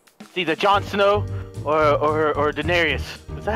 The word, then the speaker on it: Daenerys: Or Daenerys. Is that how you say it? Oh, yeah. Yeah, Daenerys.